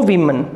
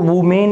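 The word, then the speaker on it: women: अब देखिए सेकंड के अंदर कह रहा है एंड नो वीमन। अब देखिए इसको वुमेन इसका प्रोनाउंसिएशन नहीं है, वीमन प्रोनाउंसिएशन है।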